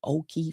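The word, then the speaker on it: Ocoee: Oak, is it Oak? How you pronounce that? It's Okie, Florida. Okie.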